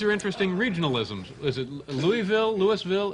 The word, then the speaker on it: Louisville: How do they pronounce it down there? Louisville or Louisville?